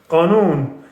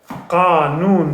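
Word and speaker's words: قانون: Qanun. Qanun. That's how we say law. Law, one syllable, qanun, two syllable. English wins this one. Qa, crow sound, qa, qa. Noon. At noon we have none bread.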